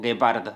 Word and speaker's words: guepardo: When you see gue or gui, the pronunciation will be /ge/ or /gi/, which means that this u is silent, it is not pronounced.